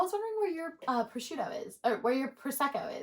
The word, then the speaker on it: prosciutto: uh prosciutto also did you know that it's pronounced prosciutto because I didn't know that I always thought